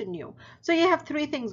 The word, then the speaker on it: nu: Okay, so frequency is given in nu, and that's this this symbol, but this is how it's pronounced. Okay, so nu.